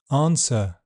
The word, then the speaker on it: answer: W is silent in some words. Sword to answer who hole and in all words beginning wrong, wrist, writer.